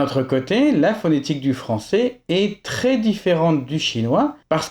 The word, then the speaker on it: française: D'un autre côté, la phonétique du français est très différente du chinois parce que de nombreux syllabes finales sont des demi-sons. Par exemple, française, c'est le son franc, le son c'est et un mini son z ou alors bœuf.